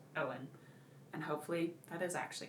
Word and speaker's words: Eoin: Apparently pronounced Owen.